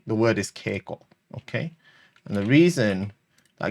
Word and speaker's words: Keiko: like it's coming then the K gets softened to a g all right but it's still the same word and the word is Keiko but the pronunciation turns to a g to soften it okay because it's easier